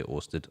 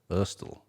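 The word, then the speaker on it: Ørsted: So Orsted is pronounced O with that strike through it. Rsted. So I think a lot of English people would say Orsted. I heard her pronounce it Urstel.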